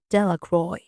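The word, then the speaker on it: Delacroix: Harry Jones and Dicky delaqua the villagers pronounce this name Delroy eventually made a great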